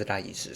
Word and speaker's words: RIIZE: boy group called, well, it's spelled RIIZE. The Hangul pronunciation is RIIZE, so I'm just going to call them RIIZE.